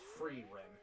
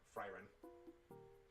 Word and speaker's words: Freerin: It's Freerin, not Fryrin.